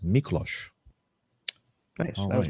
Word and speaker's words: Miklos: And thank you for putting the phonetic pronunciation of your name, because I would have said Miklos, but it's Miklos.